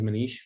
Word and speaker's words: Manish: i as i said my name is manish that's how you say it um i really believe